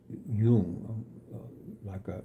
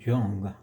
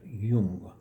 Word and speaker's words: Jung: It's spelled Jung, but it's pronounced Jung. The J is not Jung like it looks like Sung Jung. It's Jung.